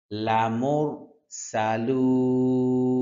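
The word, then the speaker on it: لَمُرْسَلُونَ: লামুরালু লামর মোর র মোটা হরফ সানের উচ্চারণ হবে যখন আমরা গরম তেলের মধ্যে মাছ ভাজি ওই সময় যেরকম আওয়াজ হয় সেইম এরকম একটা আওয়াজ হবে হ্যাঁ সালুন লামুর সালুন লামুর সালুন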